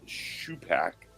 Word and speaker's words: Shupak: um you had it correct earlier it is pronounced Sho Pac okay um so you right um and yeah